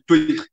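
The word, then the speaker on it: Týr: que ela se chama Tyr, das Ilhas de Faroé. E, na verdade, até existe outra pronúncia. Lá nessas ilhas eles chamam de Tuir. Tem uma pronúncia diferente.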